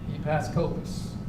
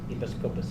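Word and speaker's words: ἐπίσκοπος: Bishop is a translation of a Greek word called, and I had the guy pronounce it to me 25 times today, Episkopos. Episkopos.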